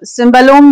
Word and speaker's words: cimbalom: तो जो इंस्ट्रूमेंट है इसका नाम है सिम्बालोम। Okay, CIMBALOM। सिम्बल भी कहते हैं, सिम्बल भी कहते हैं, अलग अलग प्रोनाउंसिएशन हो सकते हैं अपने हिसाब से।